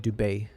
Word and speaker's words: Dubai: I'm uh I'm in Dubai. Dub Dubet. Some of the people here pronounce it dubet.